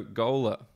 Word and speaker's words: Gola: and Instagram here's Italy so gola just as it's spelt in the description but ello y is